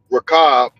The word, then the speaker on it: Rahab: me with that um RAB that's what the pronunciation is Raab the Harley was in